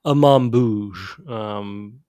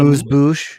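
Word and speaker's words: amuse-bouche: There's a mambouge. I don't think that's the right way to say that, but this is the And amuse bouche.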